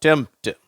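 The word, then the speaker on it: tempt: அந்த சவுண்டு தேவையில்லை. அந்த உச்சரிப்பு மறைந்துருது. அடுத்தது இம்ட் அப்படின்னு படிக்கிறோம். இங்கே இந்த வார்த்தையில் இருக்கு பாருங்க, MPT இதே மாதிரி வந்திருக்கு பார்த்தீங்களா? அப்போ இதை நம்ம எப்படி உச்சரிக்கிறோம்? டெம்ப்ட்.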